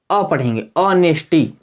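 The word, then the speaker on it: honesty: है तो नहीं होगा ऑनेस्टी ऑनेस्टी इसको ह को ह साइलेंट रहेगा यहां से उच्चारण यहां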